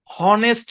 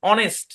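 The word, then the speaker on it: honest: এস টি ঠিক আছে এই শব্দের উচ্চারণ কি হনেস্ট না এই শব্দের মধ্যে এইচ সাইলেন্ট অনেস্ট কি উচ্চারণ অনেস্ট এই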